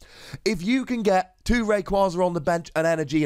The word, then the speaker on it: Rayquaza: wires are going and I know it is pronounced Rayquaza but like you get it going in a